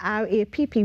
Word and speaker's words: RAPP: Although it is spelled R-A-P-P, we speak about RAPP, W-R-A-P.